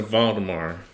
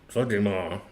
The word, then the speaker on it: Waldemar: Do you pronounce that W like a V, like it's German?